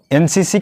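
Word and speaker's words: NCC: लेकिन इसका उच्चारण जो होता है एन से होता है।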